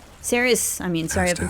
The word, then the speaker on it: Cerys: Oh, Cerys! Cerys.